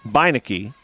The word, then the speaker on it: Beinecke: And he pointed to Gabby Beinecke's name, and he said, that name is said Beinecke. And I said, well, thank you. I would not have imagined to pronounce it that way.